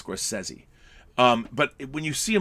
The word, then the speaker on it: Scorsese: It's Martin Scorsese. That's how you pronounce his name. Martin Scorsese. Not Scorsese, it's Scorsese.